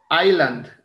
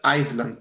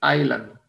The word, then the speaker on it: Island: Island, ojo con la pronunciación, no es Iceland, es Island. La S es muda.